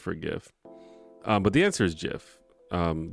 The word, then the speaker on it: GIF: but the answer is Jeff um the guy who made it said that's how you pronounce it so I mean that's just kind of what it is but obviously no one's GIF has become probably more